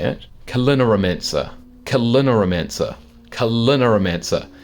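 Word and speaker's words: Culinaromancer: Kalinaromancer. Kalinaromancer. Kalinaromancer. From like culinary and then like necromancer, or mancer as in like a magician. So a magician of making food, right?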